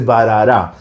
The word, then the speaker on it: Bharara: a abrir este mural se dice parará y justamente en su